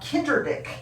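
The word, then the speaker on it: Kinderdijk: the uh village of kinder dick uh that's how you pronounce that i don't know why they put the j in just to fool us i think but kinder dick is the village it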